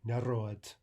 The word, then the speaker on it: Народ: Note the D voicing. There's an example. That final D normally would be voiced. We pronounce it as if it were a T. Народ.